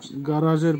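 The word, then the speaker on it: гараж: গারাজ, গারাজের Bangla হবে garage, উচ্চারণ হবে গারাজ।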